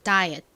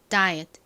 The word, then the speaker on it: diet: 한국식으론 다이어트 이렇게 발음을 하지만 실제 영어식 발음을 들어보시면 끝에 T가 굉장히 좀 잦아들면서 받침처럼 소리가 나요. diet, diet.